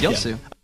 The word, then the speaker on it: Yasuo: How many more times do you mispronounce Yasuo? Yasuo? Yasuo. Yosu? Okay. Yosu. Yosu. There we go. You're pronouncing it wrong. It's Yosu.